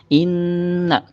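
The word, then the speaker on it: إنَّ: Nah, di situ ada inna, nun mati, nun gunnah. Apabila ada huruf nun di atasnya terdapat tasydid, maka agak ditekan bacaannya sekitar 2-3 harokat. Inna, bukan ina, tapi inna agak ditahan.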